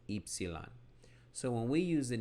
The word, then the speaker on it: Ypsilon: It's actually pronounced in modern Greek as Ypsilon.